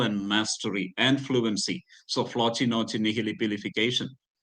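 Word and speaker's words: floccinaucinihilipilification: So here, if you pronounce it, it should be floci, noci, nihili, pilification.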